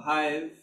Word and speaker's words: HYV: is the meaning of the name Hive uh Hive um as it it is pronounced it came from Hive like the Beehive